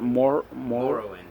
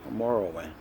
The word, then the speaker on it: Morrowind: How you pronounce it? Morrowind. Morrowind.